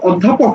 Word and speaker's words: অধ্যাপক: এটা এসেছে উচ্চারণ থেকে উচ্চারণ অ এর অধ্যাপক এটা ও এর মত উচ্চারণ হয় সুতরাং এটা হচ্ছে সংবৃত